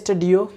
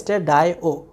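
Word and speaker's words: stdio: চাই, তাহলে hash include স্টেডায়ো ডট এইচ, এটা অনেক সময় অনেকে বলে স্টেডিও, যদি এটা খুব ভুল, কারণ স্টেডিও আমি প্রথম দিন আমি বিস্তারিত বলছিলাম, স্টেডিও মানে standard, I for input, O for output, তার মানে আমার এটা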